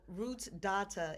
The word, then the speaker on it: Rootsdawtah: Yeah, so Rootsdawtah, it's patois, It means I'm an uptown girl, but I'm into my roots and my culture.